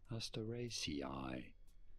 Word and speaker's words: Asteraceae: There are, in fact, two different ways of saying it. Okay, two different ways. The most common is probably as Asteraceae. Asteraceae. You do want to stress.